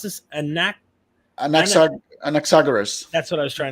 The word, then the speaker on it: Anaxagoras: How do you pronounce this? Anaxagoras.